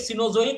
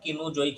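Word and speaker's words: Cenozoic: ক্রিটেসাস পিরিয়ডে ওয়েস্টারন ঘাট লেট সিনোজইক বা এটাকে তোমরা বলতে পারো অনেক সময় উচ্চারণ কেনোজইক হিসেবে হল নেক্সট আরাবল্লী প্রি্যামব্রিয়ান আর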